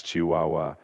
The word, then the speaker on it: Chihuahua: How do you pronounce that, Apollo? That's Chihuahua. And hey, Chihuahua, thanks for joining us.